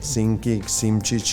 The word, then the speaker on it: Simčič: Very similar is the Simčič. Simčič is pronounced in Slovenian language. So Simcic.